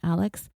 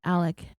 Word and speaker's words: Alex: I just call him Alex it is really tripping me out how his name is spelled Alex but we're calling him Alec and I was going